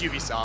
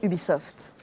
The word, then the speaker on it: Ubisoft: Je dis Ubisoft. Car U comme U, B comme bienvenue, et soft comme soft ça va?